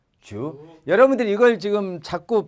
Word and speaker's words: 烛: 되는데 일성과 사성이 아니니까 역시 된 소리는 안 나고 주로 나는데 이성입니다. 촛불 촉 주.